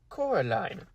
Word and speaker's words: Coraline: They kept saying Coraline, not Caroline, not Caroline at all."